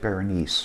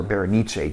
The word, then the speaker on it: Berenice: And you're right, some of the stories like Berenice, or Berenice, depending on how you want to pronounce it, sort of take